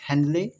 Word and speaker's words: Henley: William Ernst हेनरी जी, spelling ERNEST है, लेकिन Ernst पढ़ा जाएगा अर्न्स्ट, एंड HENLEY है, विलियम अर्न्स्ट हेनले।